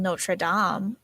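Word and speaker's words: Notre-Dame: know that there's a place in France called Notraam. Um, and that's how it's actually supposed to be pronounced. Notre Dame's a college, I'm pretty sure.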